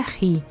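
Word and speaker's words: ऋ: Como vogal, R se pronuncia Ri e significa todos os movimentos determinados que alcançam diretamente seu fim.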